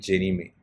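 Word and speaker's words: Ginnie Mae: Fannie Mae and Jenny Mae. So this is how it is pronounced.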